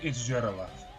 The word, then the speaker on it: Jiraleth: I'm gonna base this on the Romanji pronunciation. This is Tindangle. God, I can't even. So the Romanji is Jirerusu. So Jiraleth. It's Jiraleth.